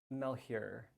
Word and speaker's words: Malheur: is my first question mel here mel here okay yeah it's sort of weird because it's french and so it it should be like but yeah well